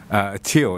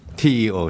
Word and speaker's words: Teo: So if you pull up the mic there a little bit and pronounce it for us there. Teo is correct. Teo. T-E-O, Teo, yes.